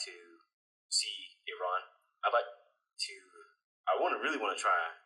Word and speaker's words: Iran: Is that how you say it? yeah, that's Iran. Iran.